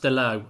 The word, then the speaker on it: Dalot: Apparently it's pronounced DALOT.